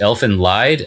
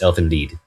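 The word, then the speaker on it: Elfen Lied: It it looks like it would be pronounced elephant lied. I believe it's German though, so it's elf indeed.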